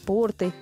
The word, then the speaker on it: порты: Похожие слова, в которых часто делают ошибки, это шарфы, банты, порты, лифты. В них также во всех формах ударение всегда ставится на первый слог.